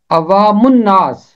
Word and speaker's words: عوام الناس: اس کا تلفظ ہے عوام الناس۔ میم کے اوپر پیش ہے اور میم جا کے ملے گا نون کے ساتھ۔ نون حرف شمسی ہے، جب بھی حرف شمسی ہے تو اس